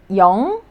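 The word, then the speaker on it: 용: first syllable you know you could pronounce the vowel first Y and then now the circle looking like consonant was used as the second consonant so it is going to be pronounced as so y Yong and then o Yong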